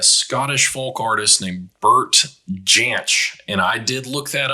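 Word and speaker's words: Jansch: be pronounced differently but apparently he pronounced it with a hard j janch apparently the more common way is yanch okay and it's it's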